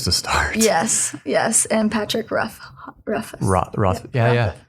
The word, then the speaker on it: Rothfuss: Yes, and Patrick Rothfuss. Yeah. How do you say it? Rothfuss, I think.